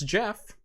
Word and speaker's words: GIF: And Jeff Geerling says it's Jiff and it's Jeff.